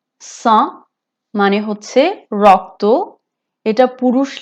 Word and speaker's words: sang: sang sang মানে হচ্ছে রক্ত। এটা পুরুষ লিঙ্গ আর এখানে জিটা সাইলেন্ট, সো এটা হবে le sang।